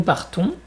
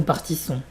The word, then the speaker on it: partons: Par contre, nous prenons, nous partons, c'est pas nous partissons.